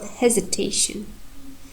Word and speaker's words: hesitation: And have secondary stress in the word hesitation. Hesitation. If we take this word, our third syllable is primary.